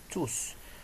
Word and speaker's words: tous: et un verre donc lorsque tous se place devant un verre le s final se prononce donc c'est une question